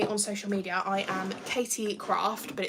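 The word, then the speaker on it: Caity: I am Katie Craft, but it's spelled C-A-I-T-Y, then Craft.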